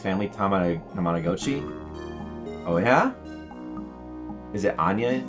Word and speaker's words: Tamagotchi: So how do you guys pronounce Tamagotchi? Do you pronounce it like I used to pronounce it completely wrong? What did I was saying Tamada. I was adding like an extra ta in there.